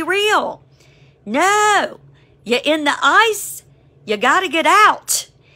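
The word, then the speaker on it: εἰς: the first one is ice oh my goodness it is pronounced like i c e spelled in Greek e i s if you are in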